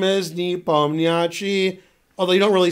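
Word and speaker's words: Nepomniachtchi: me my name is knee bum the achi although they don't really say new pony see but you guys don't know that you don't pronounce the end of it but I gotta pronounce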